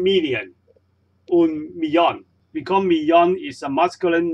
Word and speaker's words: millón: And remember, when we see two L together, the pronunciations of these two L is not like English la. So we don't read un millón, we read un millón. And the two L's just sounds like Y or J's in English.